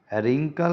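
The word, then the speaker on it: wrinkle: तो वाटर, रोंग, रोंग RONG, रिंकल RINKLE, whole HOLE, तीनों में साइलेंट है, वाटर में साइलेंट नहीं है।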